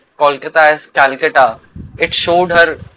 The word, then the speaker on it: Kolkata: Calcutta, Kolkata, both are right, but in the actual like local language, people call it Kolkata, and in Hindi as